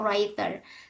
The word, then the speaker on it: writer: Nah, so Jaroling is an author or writer. The wait the pronunciation of this actually writer. Jadi bukan reader but writer this one ya. writer. You don't need to say W here.